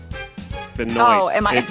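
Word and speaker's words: Benoit: Do a quick Google search of Chris Benwis. He's a wrestler. Benoy. It's spelled like Benoy.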